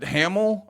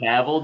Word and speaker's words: Cavill: Hamill? Or how do you say it? Oh, Henry Cavill, dude.